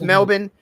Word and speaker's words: Melbourne: So it's Melbourne. You just say it really fast.